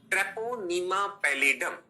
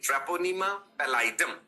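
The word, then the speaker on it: Treponema pallidum: So this can be framed as अ question ट्रेपोनीमा पैलेडम सुनिए भी ध्यान से। इसका उच्चारण सही करना है। लिखना भी सही है। ट्रेपोनीमा टी आर ई पी ओ एम ई एम ए ट्रेपोनीमा पैलाइडम पी ए double L आई डी यू एम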